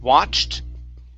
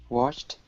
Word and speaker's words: watched: Watched. Watched. Okay, instead of wash with an SH, it's CH sound.